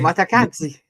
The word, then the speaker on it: Mikautadze: one, because I don't want to butcher the pronunciation too much. And that is George's MIKAUTADZE. Matakadze.